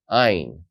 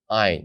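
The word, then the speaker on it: עין: Ayin. Now this letter is interesting because it also stays silent.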